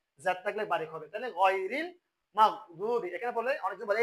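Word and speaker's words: غير: তাহলে এটা হবে কি আন আমতা, এটা হচ্ছে আইন, আন আমতা আলাইহিম গায়রিল। এটা ভুল করে কিরকম, বলে যে গাইরিল, এটা কি বলে?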